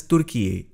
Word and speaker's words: Türkiye: Turkey is now pronounced as Türkiye.